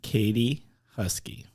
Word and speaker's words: Katie Huskey: And so, without further ado, this week's guest is Katie Huskey. Did I pronounce that right?